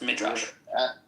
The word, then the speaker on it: Midrash: It is pronounced Midrash.